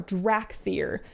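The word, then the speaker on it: Dracthyr: matter but it's weird to me that it's spelled with a c it's d-r-a-c-t-h-y-r drac fear and i kind of figured it would be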